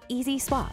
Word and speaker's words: EZ Swap: La technologie Color FLX comprend le remplacement EZ Swap (prononcé « Easy Swap »), qui vous permet